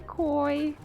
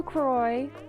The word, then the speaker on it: Croi: They're saying hi to you, Croy. But they don't know your name is spelled C-R-O-I, not K-O-I. Oh. He's saying he's okay with them as spelling as well. Yeah, that's true. I heard koi like the fish.